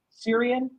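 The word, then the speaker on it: Sirian: Dane the Cesarean bout how do you pronounce that Syrian yeah yep he's from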